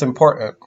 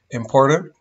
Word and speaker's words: important: I think it's important that we figure out what we gotta do. Now, some people will pronounce this with a flap, important, but I grew up pronouncing it with a glottal.